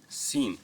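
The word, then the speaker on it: scene: Example सीन। अब यह word सीन पढ़ेंगे। यहां पे हम सी को साइलेंट रखेंगे। सिर्फ एस की आवाज को प्रोनाउंस करेंगे।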